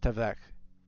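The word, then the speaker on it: תָּוֶךְ: It's such an underrated word, but it comes from Strong's 84:32, and it's pronounced tavech.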